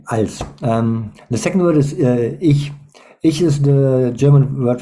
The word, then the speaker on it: ich: I or myself, and we have different ways to pronounce the ch. It's in this word, in ich. It sounds a little bit like sh would sound in English, but it's not sh, but it's a little bit more in the back of the mouth.